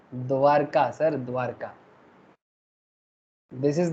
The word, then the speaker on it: द्वारिका: किसका कैपिटल था द्वारका? किसने बनाया था द्वारका? द्वारिका, मतलब एक्चुअली संस्कृत में प्रोनाउंसिएशन होता है सर द्वारिका, हिंदी में बोलते हैं द्वारका, ठीक है।